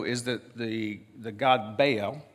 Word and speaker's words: Baal: Now, what you have to know is that the the god Baal, Baal is what it's pronounced, but Baal for us southern people.